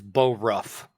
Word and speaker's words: Borough: Google city of Boro b-o-r rough it's Bo Ruff it's not spelled like burrow like the boroughs of New York yeah maybe it is